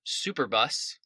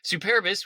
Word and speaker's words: Superbus: Roman king, Tarquinius Superbus, or as my students like to say when they're first reading it out loud, Superbus. That's not his name. Superbis, which means proud.